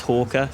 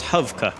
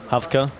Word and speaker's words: Hawker: and tell everyone that my name isn't pronounced hawker it's actually pronounced hovka hafka as the russians always call me at matchmaking really and